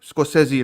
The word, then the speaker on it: Scorsese: of the Flower Moon by Martin Scorsese, and Scorsese, right? That's the way to Scorsese. pronounce it.